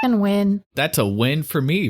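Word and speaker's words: Wynne: we don't learn lessons Okay people are doing win so I guess it's win that's a win for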